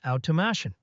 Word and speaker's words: automation: The correct pronunciation is automation. The emphasis is on the third syllable.